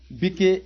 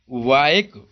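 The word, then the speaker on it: bike: क्या होता है, साइलेंट होता है। जैसे LIKE, GIUA और VIKE। अब इसको हम बात करें, लिके, गिवे, बिके ऐसे नहीं पढ़ेंगे।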